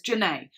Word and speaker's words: Jhené: It's got like a little accent on the E. Jhené Aiko. I was going to say Aiko, right? But I just didn't know the Jhené bit. But it's Jhené.